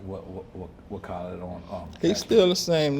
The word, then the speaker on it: Khaled: I don't know if I pronounced his name right. Did I say that right? Khaled.